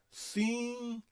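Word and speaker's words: συγγένεια: O primeiro G, o primeiro gama, na verdade, tem o som de N e a forma de N, e o segundo permanece G.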